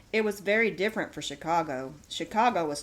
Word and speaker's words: Chingachgook: For instance, one of his acute Indian experts, Chingachgook, pronounced Chicago, I think, has lost the trail of a person he is tracking through the forest.